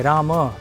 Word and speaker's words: राम: भारत में तमिलनाडु में जो शब्दों का उच्चारण सुनेंगे राम, जो संस्कृत में एक्चुअली सही है, क्योंकि म में हलंत नहीं है, लेकिन उत्तर भारत में राम हो गया है, एक्चुअली राम है संस्कृत में, लेकिन दक्षिण भारत में वो सही शब्द का उच्चारण होता है।